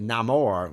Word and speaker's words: Namor: I always pronounced it Namore with a Spanish accent, and I was happy when I heard it pronounced that way in the movie.